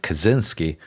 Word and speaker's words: Kaczyński: Ted Kaczyński, in English often pronounced as Ted Kazinski, also referred to as